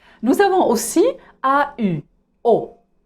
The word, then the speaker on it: au: Nous avons aussi AU, O. Nous avons aussi AUX, O. C'est la même prononciation, sauf que AU, c'est singulier et AUX, c'est pluriel.